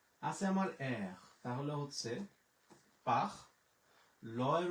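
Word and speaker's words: parler: আছে আমার এর, তাহলে হচ্ছে পাখ। ল এর উচ্চারণ হচ্ছে ল, ও এর এর উচ্চারণ হচ্ছে একার, তাহলে পাখ লে, পাখ লে।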